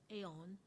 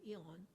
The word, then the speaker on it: aeon: an eon or aeons some people pronounce this as aeon i am used to eon so whatever aeon or eon so and uh and